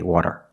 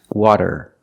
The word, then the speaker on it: water: We cannot say water. It's water, water. Use a fast D, da da da da.